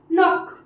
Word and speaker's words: knock: नॉक मतलब दरवाजे को खटखटाना, नॉक नॉक कोई आया, तो KNOCK नॉक मतलब खटखटाना। के साथ एन आया मतलब एन का फिर सिर्फ साउंड होगा, के साइलेंट हो जाएगा, तो नॉक मतलब खटखटाना।